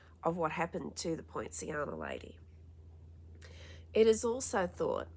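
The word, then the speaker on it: Pontianak: the channel that helps you learn how to pronounce things properly, it's Poinciana.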